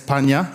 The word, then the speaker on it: Panha: And so we also have, now I'm going to pronounce it wrong, Panha. Yes, Panha, that's right, from Cambodia.